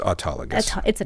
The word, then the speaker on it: autologous: your own body but you can call it autologus that works too and it's autologus that's how we typically say it autus but sometimes we